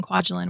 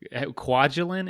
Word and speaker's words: Kwajalein: I also talk about living in Kwajalein, which is a really interesting and unique place, and just sort of my time as a civilian contractor on the island.